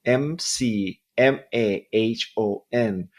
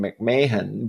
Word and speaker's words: McMahon: I just I just introduced I mean I just interviewed Sharon McMahon and her name is spelled MC M A H O N. So I mean everybody must be saying Sharon McMahan but McMahon, right?